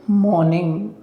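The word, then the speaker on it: morning: बोलते हैं good मॉर्निंग इसमें जो आर है वह साइलेंट है लिखा तो जाएगा लेकिन बोलेगा नहीं तो बोलेगा क्या केवल मॉर्निंग मॉर्निंग गुड मॉर्निंग ठीक है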